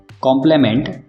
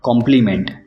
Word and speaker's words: complement: कॉम्प्लीमेंट, कॉम्प्लीमेंट, दोनों words के pronunciation में थोड़ा सा डिफरेंस है।